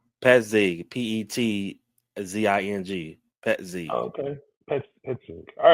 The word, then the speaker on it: Petzing: Petzing.